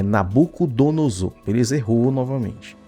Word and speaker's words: Nabucodonosor: É Nabucodonosor. Eles errou novamente. E ele vai repetir novamente, olha só. Nabucodonosor, Olha só.